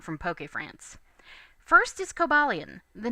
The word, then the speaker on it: Cobalion: official romanization, which is written Cobalon, but the kana used are pronounced Kobaruon, so Cobalion's honestly closer.